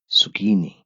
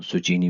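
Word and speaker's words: Zucchini: सुकीनी, सुकीनी या उर्दू में जिसको सुचीनी भी शायद आप कहते हैं, ये वही लफ्ज है सुचीनी, या डच में इसको कहते हैं सुकीनी।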